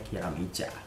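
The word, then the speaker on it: キラメイジャー: judulnya adalah masih santai kira meja atau tiram eder atau Dewa terserahlah kalau kalian gimana Tapi kalau dalam pelafalan bahasa Jepangnya kira micha nah 6 seri ini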